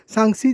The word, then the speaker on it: সাংসি: সাংসি, জায়গাটার নাম সাংসি বা স্যাংসেও বলে। কালিম্পং উচ্চারণ ভেদে একটু অন্যরকম তো হয়।